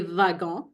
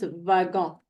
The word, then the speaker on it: wagon: don't say wagon we say vagon in French so this is a V and we say whiskey with the w so I want you to make sure you remember this that this one is pronounced vagon over here okay so